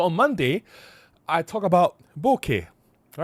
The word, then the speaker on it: bokeh: So on Monday, I talk about bokeh.